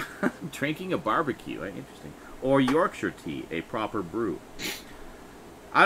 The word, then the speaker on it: Yorkshire: I guess Yorkshire. Yorkshire. You'd think they pronounced it Yorkshire. It's one of them silent letter things.